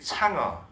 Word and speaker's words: 嫦娥: 바로 그 달 탐사선의 이름이 창어. 중국식 발음은 창어인데, 그게 한자로 쓰면 바로 이 상하입니다, 상하.